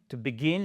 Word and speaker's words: begin: We are going to begin et pas to begin. Non, to begin. L'accentuation sur la première, non, sur la seconde syllabe.